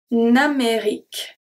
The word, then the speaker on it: Amérique: En Amérique. En Amérique. The U and the E after Q are silent.